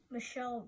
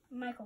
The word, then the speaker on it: Michael: Michelle Brantley. Michael Brantley. Michelle is the French pronunciation.